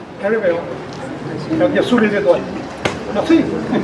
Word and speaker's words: Galileo: Alors ça se prononce en anglais, Galileo. Galileo.